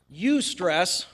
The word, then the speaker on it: eustress: one you probably haven't eustress which is spelled with a silent e at the beginning EU stress is good